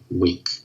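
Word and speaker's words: Whink: That's spelled W-H-I-N-K, Wink. So I think I gave a lot of information there for both of those questions.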